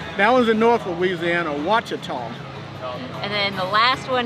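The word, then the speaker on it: Ouachita: in the u.s this one i would have pronounced it what cheetah and it is watcha tall which is in north north louisiana we mentioned north louisiana so that one's in north louisiana wachotom and then the last one here this is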